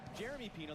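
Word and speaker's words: Yeremy Pino: is name pronunciations because Jeremy Pino, that's how he says his name, Jeremy with a hard J sound.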